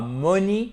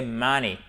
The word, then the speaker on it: money: Et ce n'est pas money, c'est money. Ce n'est pas money, c'est vraiment important, et encore moins money, mais bien money. Money. Ok? Il y a notre accent tonique, il est là.